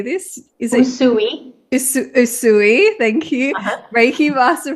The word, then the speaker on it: Usui: Is it Usui?